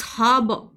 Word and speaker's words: harbour: Know what, it's हार्बर, इट्स नॉट हार्बर, it's harbor, ha and b, it's harbor। सो HARBOUR की pronunciation एकदम different हो जाती है, इट्स हार्बर, इट्स हार्बर।